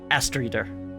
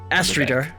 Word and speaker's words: Aser: sorry um has sorry it is aser I've been pronouncing it wrong as um Ester um kind of you